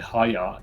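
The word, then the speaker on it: היה: void uh so actually a Hebrew verb uh pronounce it correctly Haya h a y a h it is possible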